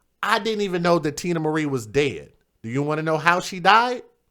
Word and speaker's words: Teena Marie: Are you guys familiar with the young lady, the Ivory Queen of Soul, by the name of Tina Marie? Her name is spelled Teena Marie.